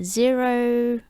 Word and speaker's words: Xero: handling multiple currencies uh zero i think you can only i think it's pronounced zero right it's spelled x e r o i'll put a